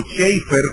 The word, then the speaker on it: Chafer: De hecho, Lewis Sperry Chafer, o Schaeffer, como se debe pronunciar en inglés, que es uno de